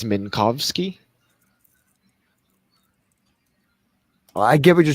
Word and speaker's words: Minkowski: Just like people say, Minkowski, it's Minkowski.